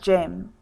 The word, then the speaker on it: gem: Look at the spelling of gem. Do you see we do not spell it with a J? It is spelled G-E-M, gem.